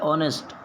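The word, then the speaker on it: honest: देखिए स्पेस है, स्पेस के आगे लिखा हुआ है ऑनेस्ट, एज तो इसमें भी साइलेंट है, ऑनेस्ट, तो देख लीजिए आपके हिसाब से क्या होना चाहिए।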